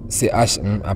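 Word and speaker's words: 十: Nous avons ici la lettre sh qui se lit comment ch en français ch marcher. Chercher h cheval. Donc ici nous avons le mot che qui veut dire 10 ch.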